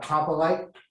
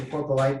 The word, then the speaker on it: coprolite: So this is called coprolite. Did I pronounce that right? Coprolite. I always say porpolite, but I was corrected, so I'll take the correction because it's good to learn.